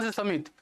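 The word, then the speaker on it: Xaxa: सुधार के लिए कौन सी समिति? तो वो बनाई गई थी आपकी सासा समिति या जाक्सा समिति भी इसे कहते हैं, स्पेलिंग ऐसी रहती है।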